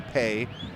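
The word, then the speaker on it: Peay: P-E-A-Y is how it's spelled. It's definitely Pay.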